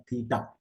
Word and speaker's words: theta: ये इस तरह से प्रोनाउंस होता है थीटा.